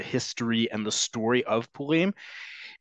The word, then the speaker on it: Purim: want to say it, as we've talked about where syllables are in modern Hebrew, it's on the last syllable by default.